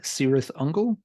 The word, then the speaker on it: Cirith Ungol: first let's cover the pronunciation thing the band pronounces the name sirith uncle and it's their band and they can say